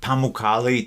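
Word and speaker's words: Pamukkale: bucket list Hot Springs is going to be pamali turkey if I'm saying that correctly it's spelled p a m u k k a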